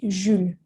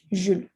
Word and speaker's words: Jules: You pronounced the S at the end. We do not pronounce it. It's just going to be Jules, right? Jules.